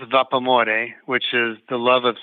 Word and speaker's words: Vapamore: Well, it's pronounced vapamore, which is the love of steam in Italian. And so if you say it in English, like how the word looks, it's vapamore.